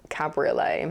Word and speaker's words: cabriolet: I then googled it and discovered you do in fact pronounce the I, and now I just can't stop thinking about what a silly word cabriolet is.